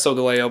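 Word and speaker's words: Solgaleo: on top of so Kaleo I know it's pronounced so delay oh but I prefer Leo because it makes more sense with lion leo anyway he looks more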